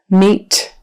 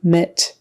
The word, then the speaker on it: meet: a j urged urged meet meet make sure you get your long e e e don't let it go into a short e MIT we want meat here